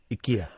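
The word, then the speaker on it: IKEA: My friends Nan used to call it Ikya and we laugh but then it turns out that's how you pronounce it. Ikya, that's how you pronounce it.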